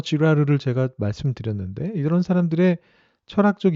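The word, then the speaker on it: Girard: 또 프랑스의 조금 더 후대의 가톨릭 철학자 르네 지라르라고 하는 사람이 있는데요. 이 철학자는 발음을 잘해야 됩니다. 쥐라르라고 하는 철학자가 있는데 이 사람은 그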